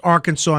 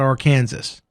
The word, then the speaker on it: Arkansas: class that says oh teacher you know it's pronounced arkansas not or kansas answer ten questions correctly in one minute and